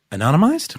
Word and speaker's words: anonymized: I can't pronounce it. Can you help me out? Anonymized?